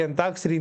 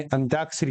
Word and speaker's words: अंत्याक्षरी: ही करते हैं अंताक्षरी जो कि अंताक्षरी नहीं होता है अंत अक्षरी होता है यानी अंत्याक्षरी होता है या अंत का